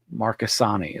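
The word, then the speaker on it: Marchesani: Marcusani is apparently how she pronounces that.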